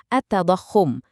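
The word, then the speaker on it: التضخم: Dalam literatur ekonomi Islam ini ada istilahnya sendiri loh, attadakahum. Dibacanya attadahum artinya apa sih?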